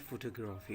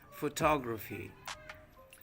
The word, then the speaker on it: photography: It is not photography. Okay? The correct pronunciation is photography.